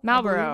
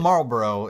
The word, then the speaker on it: Malboro: Malboro. That's what it is? Yeah. It's not Marlboro. It's not cigarettes.